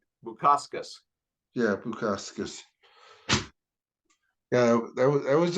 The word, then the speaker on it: Bukauskas: Bukauskas.